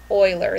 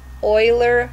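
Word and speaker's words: Euler: up an Oiler line Oiler that's spelled e u l e r Oiler line and I want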